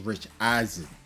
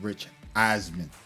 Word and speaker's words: Rich Eisen: Before we continue with this Audacity podcast, I would like to apologize to Rich Eisen for mispronouncing his name. I was calling him Rich Eisman. So his name is actually Rich Eisen.